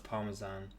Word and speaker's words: Parmesan: As an Italian, the way American people pronounce Parmesan actually makes more sense because it resembles the original pronunciation Parmigiano. That's the cheese, right? My girlfriend was obsessed with that in Italy. So if you pronounce it the American way, you can kind of hear the G in there.